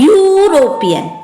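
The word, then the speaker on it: European: ई जो है वॉवेल है, लेकिन जब हम जो है उच्चारण कर रहे हैं, प्रोनाउंसिएट कर रहे हैं, तो प्रोनाउंस करने पर य आ रहा है, यूरोपियन, य आ रहा है, तो य क्या है?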